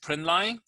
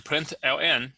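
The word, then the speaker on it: println: the line system out print line is commonly pronounced as system dot out dot print line or if you want to pronounce it as a print ln that's fine the value inside the parenthesis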